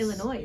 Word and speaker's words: Illinois: Illinois, which is Illinois, I think. Illinois, that's how you say it.